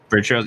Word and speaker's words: Virtuos: Am I pronouncing it right? Virtuos, yeah. Virtuos, yeah.